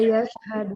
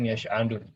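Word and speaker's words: يشهد: Yashhadu. Ini dikoreksi. Yashhadu, bukan yash'adu. Dikoreksi ya. Pakai ha.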